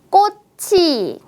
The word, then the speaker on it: 꽃이: 있습니다이 단어는 어떻게 읽을까요 받침에 츠 자음을 뒤로 옮겨 보겠습니다네 맞아요 꽃이라고 읽으면 되겠네요 따라해 보세요 꽃이 예뻐요